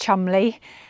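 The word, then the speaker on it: Cholmondeley: This is a castle, pronounced Chumley, but spelt very differently.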